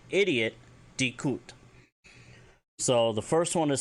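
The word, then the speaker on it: di'kut: If you want to say idiot, dikut. So the first one is spelled, or idiot, he's an idiot, Kaysh space mirsh space solus.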